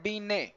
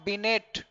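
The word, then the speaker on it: Binet: यह वही बिन हैं यहां टीम साइलेंट होता है इसको करते हैं बीनने नॉट बीन ठाट इन फैक्ट मत पढ़िए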